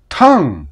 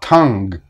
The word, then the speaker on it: tongue: this sound is that we generally don't pronounce the G even though there is G in the spelling we say sing not sing tongue not tongue but wait I hear